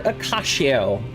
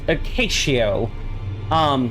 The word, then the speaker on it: Acacio: And in the process, we met the replacement boss, Thief Taker Acacio, as in acacia, as in the tree. Okay, I think I used a long A instead of a short A. It's Acacio.